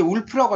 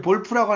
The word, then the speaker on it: Wolf: 영어로는 이제 울프라고 하죠. WOLF. 이 울프라고 하는데 이제 볼프라고 하는 약간 독일어식 발음이라고 보시면 됩니다.